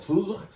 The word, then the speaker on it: foudre: Foudre, that's yet again a French word that you can gasp the second syllable if you'd like, if you can say it right, or you can just give up and say foudre. How about that? Foudre. Easy. Like Mourvedre, foudre.